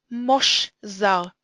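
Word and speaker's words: מָשְׁזָר: Ve'shesh mosh zar. Mosh is closed. It begins and ends with a consonant, and therefore the kametz sounds like an o.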